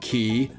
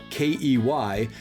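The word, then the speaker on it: cay: these words are pronounced Ki K and Quay but actually these words are all pronounced the same key key is an accepted alternate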